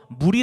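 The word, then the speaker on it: מול: 절반은 성막 첨 면 그 히브리어로 무리 라고 하거든요 물 요 우리가 마시는 무리라고 프 이 표현 하는게 아니라 그 발음이 표기가 물이라고 합니다 히브리어로 물이 꼭 정면을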